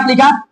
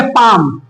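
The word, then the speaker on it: palm: जैसे देखो मैंने यहां पे लिखा पी ए एल एम। ठीक है? पी ए एल एम। इसे बोलेंगे पाम। क्या बोलेंगे? पाम। क्या इसको हम पाल में बोलेंगे? पाल में नहीं बोलेंगे। क्या बोलेंगे? पाम। क्यों बोलेंगे? क्योंकि एम के पहले आ गया। तो एम के पहले एल रहेगा। तो हम एल को साइलेंट करेंगे तो देखो इसमें कहीं ल का साउंड आ रहा है क्या इसलिए हमको बोलेंगे पाम पाम मतलब क्या होता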